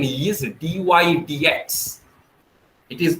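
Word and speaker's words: dy/dx: although the symbol is bar but the right pronunciation is d y d x it is not d y pi d x it is d y d x so the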